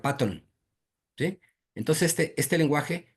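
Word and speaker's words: Python: lo que se llama piton se escribe en español así pero se pronuncia paton Sí entonces este Este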